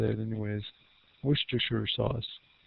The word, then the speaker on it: Worcestershire: Worcester, Worcestershire? That's how my mom told me to say it anyways. Worcestershire sauce.